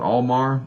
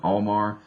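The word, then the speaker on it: Altmar: do you call it almar a-l-t-m-a-r i think the t is silent omar i'll learn those areas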